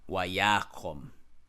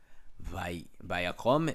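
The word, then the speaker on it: וַיָּקָם: Wayakom. They pronounce it as a vav, not a wow. Vayakom is wayakom.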